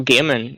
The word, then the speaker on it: Gaiman: Like if you take the like of Neil Gaiman, isn't it Gaiman you pronounce his surname?